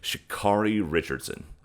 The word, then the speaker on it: Sha'Carri Richardson: And I want to make sure that I pronounce her name right. It is Sha'Carri Richardson.